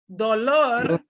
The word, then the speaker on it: dolor: This is why it's so important to get your vowels right. Dólar is a monetary unit. Dólar. Dolor means a pain, a physical pain.